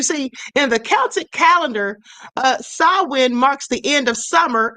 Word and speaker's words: Samhain: It looks like Sam Hain, but it's Samhain. That's the way you say it, Samhain.